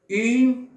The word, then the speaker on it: une: Une porte. Cuando digo yo une, estoy diciendo una. Une aparece en cada uno de los ejemplos. Une. Une. Une se pronuncia une.